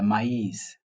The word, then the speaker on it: maïs: is not pronounced, but when they are consecutive and the other one is that l'accent tréma, it means they are pronounced separately. For example, if you say le maïs, meaning to say the R and the E, they are pronounced differently.